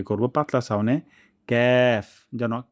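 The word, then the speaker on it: كاف: হয় কফ তাহলে ভুল হবে কফ কফ তারপর ক্যাফ জিবা গোড়া থেকে একটু আগে বাড়িয়ে এবং তার বা উপরে তালুর সঙ্গে লাগিয়ে আমরা উচ্চারণটি করব পাতলা সাউনে ক্যাফ যেন কাফ না হয়ে যায়।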